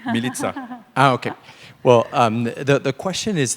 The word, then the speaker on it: Milica: I have a quick question for Milica. Sorry if I mispronounced your name. It's Milica. Sorry? I trained one day to say correctly. Milica.